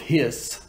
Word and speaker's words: His: through the bundle of hissed into the bundle branches and it's important it's pronounced hiss like a snake the bundle of hysts